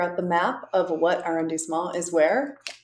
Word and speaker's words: arrondissement: I couldn't even tell you or remember what arrondissement it was in.